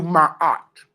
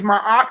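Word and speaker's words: maat: story family our fair our story is do my art and live do my art and live are you getting this again what is my art well my is my op okay it's an it's a committed term it's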